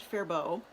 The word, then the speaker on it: Faribault: town in southern Minnesota fairbault FA RI ba ult and they pronounced it fair bow the faribault mill Faribault